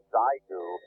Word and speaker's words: Xiegu: Hey, Dale, it's XIEGU, and they pronounce it Zygu.